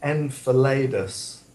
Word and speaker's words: Enceladus: I think you pronounce it Enceladus.